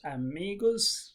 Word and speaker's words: amigos: The stress is on the second syllable. It it has three syllables. Amigos.